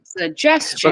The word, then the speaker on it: suggestion: Any words that end in shun or have shun in them and there's stuff after, you can stress the syllable before the shun, regardless how long it is. So like suggestion.